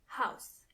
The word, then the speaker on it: Haus: Das Haus. When it comes to pronunciation, it's the same as in English, but you have to keep in mind how the word house is written. H A U S Kitchen is die Küche.